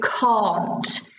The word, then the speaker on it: can't: Think of the pronunciation. Yeah, it's can't in natural English. Yep, can't. So it's a long, I can, I can't. It's a long vowel sound.